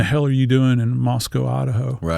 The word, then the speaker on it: Moscow: you have to pronounce Moscow, not Moscow. They take exception of that. So, you have to think Costco. So, Moscow.